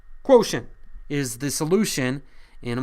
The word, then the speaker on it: quotient: T-I-E-N-T, not how you'd maybe expect it to be spelled, sounds different. Pronounce it. Quotient is the solution in a multiplication problem.